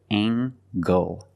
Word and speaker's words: angle: is a right angle use the nasal plus the hard G angle angle this is a